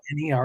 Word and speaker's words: Wiener: Okay, so in German, and the saying under it was, "The party doesn't start till the wieners come out." In German, it's Wiener. It's pronounced Wiener, and a Wiener is somebody from Vienna.